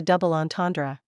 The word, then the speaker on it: double entendre: Give the word as close a French pronunciation as you can. The ends are nasalized, the are somewhat throaty, and the final syllable is barely audible.